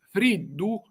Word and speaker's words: friddu: Per esempio, la parola friddu friddu si pronunzia con una di alveolare, come in italiano.